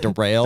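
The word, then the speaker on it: derailleur: too uh no i'll derange off for that one for a second deranged uh so i had this daryl's pronounced like derail i had that up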